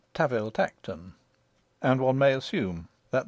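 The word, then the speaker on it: Tanville-Tankerton: We are told in an authorial footnote that the Duke's family name, spelt Tanville Tankerton, is to be pronounced Taville Tacton, and one may assume that the name of his country seat follows suit.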